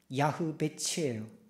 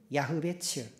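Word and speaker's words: יַעְבֵּץ: 여러분, 야베스를 히브리 말로 발음을 하면 야흐베츠예요. 야흐베츠.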